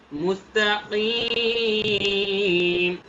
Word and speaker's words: مستقيم: একটা হচ্ছে মুস্তাকিম বললাম আমি, কিম যদি বলি ভুল হবে, মুস্তাকিম হবে না, হবে হচ্ছে মুস্তাকিম। কিম কিম, দেখেছেন গলার ভেতরে একটা বাড়ি খাবে।